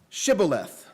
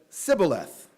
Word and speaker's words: Shibboleth: test in verse six say now Shibboleth but he said Sibyl a--the for he could not pronounce it correctly then they seized him